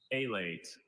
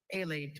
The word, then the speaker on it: alate: Alate, Alate.